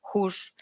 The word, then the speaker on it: Goes: Middelburg, en la isla de Valcheren, como se pronuncia, y Goes, Hus, en la isla de Zuid-Beveland, permanecían bajo control español.